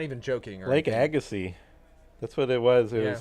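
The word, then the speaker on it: Agassiz: Lake Agassy. Don't know how to spell it. Fun name. It's like a g a ss i z, I believe. Something like that. It's a silent z.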